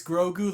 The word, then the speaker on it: Grogu: comments section it's grogoon it's grow like you're growing up yeah i make that here's the thing the way it's spelt isn't the way that it's said and i'm bad with names so thank you it's grogu like you're growing a plant grogu goku there you go